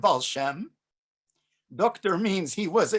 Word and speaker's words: Baal Shem: dr balsham liber well balsham is just a uh eastern pronunciation of wal-shem doctor means he was